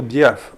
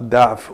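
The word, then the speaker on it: ضِعف: Et ce mot diaf, faut faire attention à bien le prononcer. Donc, ce ne sera pas daf ou bien dof qui est la faiblesse ou l'affaiblissement. Et il ne faudra pas le prononcer non plus da'oufa. Da'oufa qui signifie devenir faible ou être faible. Donc, diaf ou bien adaf avec la kasra.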